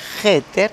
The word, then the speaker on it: hacker: mala que hace es que se pronuncia jeter pero se escribe h r entonces qué pasa qué lamentablemente